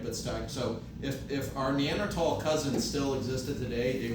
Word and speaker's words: Neanderthal: So the correct way to pronounce it would be Neanderthal, right? Because it comes from the Neander Cape of France.